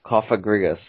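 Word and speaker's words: Cofagrigus: This is Kofagrigus.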